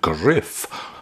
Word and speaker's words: Griff: I might draw your attention to the fact that Griff rhymes with if, to spare you of any embarrassment later on.